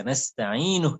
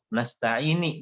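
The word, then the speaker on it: نستعين: Karena banyak orang yang menyambungnya jadi keliru. Nasta'ini dia bilang. Padahal nasta'inu barisnya dhammah.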